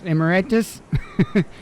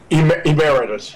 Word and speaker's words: emeritus: uh mcnight Professor I don't know how to pronounce emiritus Emeritus oh Emeritus sorry about that sorry at the